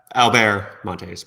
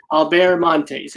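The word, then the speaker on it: Albert Monteys: and the illustrator is Albert Montes. Is that the correct pronunciation of his last name? Albert Montes, but yes. So I got the last name right and the first name wrong. Albert Montes, and names are important.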